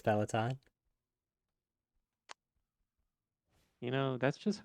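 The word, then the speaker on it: Peloton: and delivered a a peltin are you sure you're pronouncing that correctly P peleton how do you say it I think it's pellaton you know that's just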